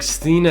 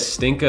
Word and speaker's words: Stina: a good defense but like stina and stinka like there's there's no K you just made like you just made that up maybe you just like